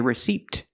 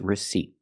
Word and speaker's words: receipt: her a receipt and remember receipt the p is silent don't say receipt it's receipt so let's continue learning